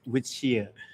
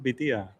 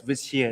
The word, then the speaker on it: Vithia: My real name is withia. Ah, that is the pronunciation. It's not Beta. No, it's Via. That's why it's hard to pronounce for foreigners.